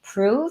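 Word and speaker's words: Proov: And it is called Prove. Is that how I pronounce it?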